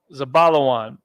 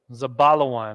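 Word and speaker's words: זבולון: category as well um zabalawan zabala one now we're gonna start building that word za ba la and then wa and then a na at the end zabala one foreign okay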